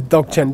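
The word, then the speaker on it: མདོག་ཅན: So here we have, this is the transcription, C-A-N, but the pronunciation is C-H-E-N, and this is dok chen.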